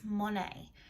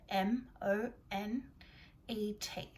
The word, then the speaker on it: Monet: t on the end m o n e t and that's because he's french so his name is pronounced a little bit differently to what we would expect when we look at